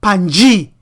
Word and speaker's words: Pangaea: Land Pangaea, that's the pronunciation, which was a supercontinent that existed in Paleozoic and early Mesozoic eras, formed approximately 300 million years ago.